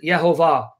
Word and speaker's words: Yehovah: And he will give you evidence from rabbinic sources that the rabbis have always known the correct pronunciation of the name, and they pronounce it Yehovah.